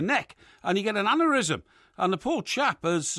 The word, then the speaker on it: aneurysm: don't worry about it I'm sure it's a and euism aneurysm aneurysm it's it's pronounced aneurysm and it's a well-known medical condition okay I